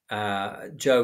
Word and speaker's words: Zhou: Even Zhou Enlai, Zhou, remember, is spelled counterintuitively Z-H-O-U.